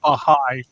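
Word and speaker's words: Bahá'í: The founder of, what's the pronunciation, you linguist The people? Baha'i faith.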